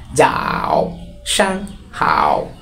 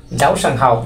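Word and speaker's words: 早上好: হচ্ছে যাও এইযে উপরে এর উপরে কার্টুন তাহলে উচ্চারণ হবে যাও সাং হাও যাও সাং হাও যার অর্থ হচ্ছে শুভ সকাল তারপর হচ্ছে গুড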